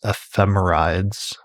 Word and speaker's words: ephemerides: But I think we're talking about it, in our working pronunciation is ephemeris, and the plural is ephemerides, although I've also heard ephemerides, but I don't think that's the correct pronunciation.